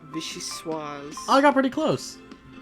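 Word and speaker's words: vichyssoise: Oh, by the way, the way to pronounce that one soup was Vishuis.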